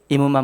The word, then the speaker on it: 이은만: 소개합니다 안녕하세요 오창 제일교회 이은만 목사입니다 제 이름이 좀 힘들고 발음이 어려워서 다 밑에 받침이 있어서 그래서 제 이름을 기억하기